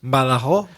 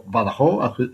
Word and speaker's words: Badajoz: or as Reza says, Badajoz, with an idea for a topic: holidays and travel. Here's. Hello, Reza. Hello, Craig. I'm from Badajoz, or Badajoz, as we say here.